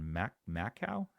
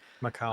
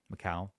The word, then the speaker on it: Macau: sub8 $800 shipments from China, Hong Kong and Mac Mau how do you say that? Macau. Um Macau.